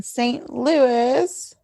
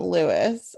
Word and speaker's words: St. Louis: It looks like Louis to me, Yeah. not Lewis.